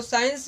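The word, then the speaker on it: science: उसे करते हैं साइंस तो साइंस में जैसे हम उसे करते हैं तो उसका सी क्या होता है साइलेंट होता है जैसे हम उसे करते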